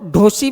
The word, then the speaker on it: धोसी: इसको ढोसी भी कहते हैं और धोसी भी कहते हैं। इसकी स्पेलिंग है डी एच ओ एस आई धोसी hills.